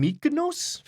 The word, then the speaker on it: Myconids: grve caves chapter 2 we're getting weird with mids mikids mids uh I make them sound like they're from mikos half the time I don't know why in your game pronounce it however you like Miko like the micro risal fungal network is probably the correct pronunciation and if you don't